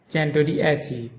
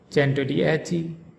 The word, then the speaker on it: Centodieci: This luxury car name is pronounced Bugatti Centodieci, Bugatti Centodieci, Bugatti Centodieci. In Bugatti, the emphasis is on the second syllable ga, Bugatti, and in chen-toh-dee-EH-chee, the emphasis is on the fourth syllable a, chen-toh-dee-EH-chee, Bugatti Centodieci.